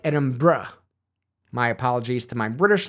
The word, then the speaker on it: Edinburgh: I am not trying to say edin burrow it just kind of comes out that way it's more like edin BR my apologies to my